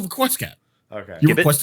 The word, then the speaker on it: Requiescat: Requiescat. Okay. Yes. We I can, do genuinely worry if people don't know how to pronounce it anymore. yeah, we Request can Cat. say Requiescat, but it's called Request Cat.